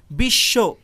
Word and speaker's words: বিশ্ব: কারণ ব ফলার অনেকগুলো বৈশিষ্ট্যের মধ্যে একটি বৈশিষ্ট্য এমন যে ব ফলা যে বর্ণটির সাথে যুক্ত হয়, ব ফলা সেই বর্ণটির উচ্চারণ দ্বিত্ব করে, অর্থাৎ ডাবল করে। আর সে কারণে এখানে বিশ্ব এভাবে উচ্চারিত হয়েছে, অর্থাৎ তালব্য স্বর উচ্চারণটা দ্বিত্ব হয়েছে, মানে ডাবল হয়েছে।